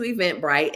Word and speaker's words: Eventbrite: on Eventbrite go into Eventbrite and if you have not ever heard of Eventbrite it is spelled exactly the way it sounds but the bright is b r i te and event bright is